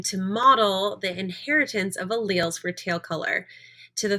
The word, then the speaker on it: alleles: so that is the vocabulary word and it's pronounced alleles even though it looks like a lilies or